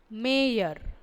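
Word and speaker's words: mayor: ஆனால் பொதுவாக இந்த வார்த்தையை இப்படி அமெரிக்கன் இங்கிலீஷில் தான் நம்ம உச்சரிக்கிறோம். எம் ஏ ஒய் ஓ ஆர் ஏ இ அ இர் மேயர் நகரத் தலைவர்.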